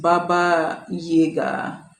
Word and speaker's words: Baba Yaga: So it says, to the Slavic people of Eastern Europe, Baba Yaga, pronounced Baba Yaga, is the old woman of autumn whose spirit lived in the last kernel of harvested grain.